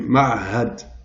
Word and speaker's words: معهد: Min ma'hadi, Max Planck, de l'institut, min ma'had, c'est un institut, ma'had, donc deux lettres difficiles à prononcer, ma'had.